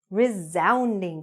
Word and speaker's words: resounding: A resounding success. Okay? Now remember, when you're saying this word, even though it's written with an S, that S has a Z or Z sound. Resounding.